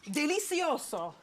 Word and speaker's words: delizioso: Delicioso.